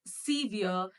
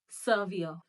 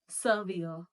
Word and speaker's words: severe: And how do we pronounce this word? As severe, but it is not severe, it is severe, severe, severe.